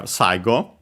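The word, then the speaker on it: 最後: Accent should be on the first syllable, and it is.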